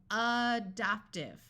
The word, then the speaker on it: adoptive: to point out that generally in English words that start with the letter A tend to take on a muffled schah sound of uh so it could have you could pronounce it with the short a adopt but that sound tends to disappear and become more like a short u sound of uh so adoptive so that would be